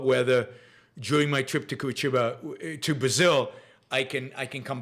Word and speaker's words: Curitiba: And I do want to come to back to Curitiba. I'm mispronouncing it again, Curitiba.